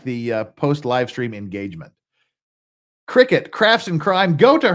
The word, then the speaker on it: Cricket: Well, you too, Cricket. And see, when I'm sober, I can pronounce it cricket, not circuit, like I always do.